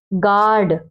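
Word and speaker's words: guard: गार्ड, यू को नहीं लाना बीच में, गार्ड, GARD, गार्ड मीन्स रक्षक।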